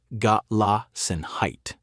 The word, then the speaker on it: Gelassenheit: There's a guiding principle in Old Order Amish life called Gelassenheit, pronounced got la sen height, and it roughly means yielding to the natural order.